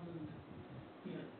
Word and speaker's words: Moog: It's spelled Moog, but it is Moog.